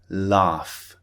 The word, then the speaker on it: laugh: important point to remember sometimes the f sound is produced when there's a gh spelling for example laugh or cough cough is spelt c-o-u-g-h so sometimes not always sometimes the gh spelling is pronounced with an f sound okay so keep that